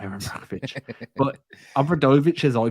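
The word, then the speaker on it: Obradović: No, not Aaron Brockovich, but Obradovic, as I pronounce it, is unquestionably one of the greatest coaches in European League history.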